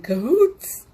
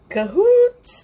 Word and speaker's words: cahoots: cuz spirit isn't always in codes cahoots you should say it like that spirits in cahoots with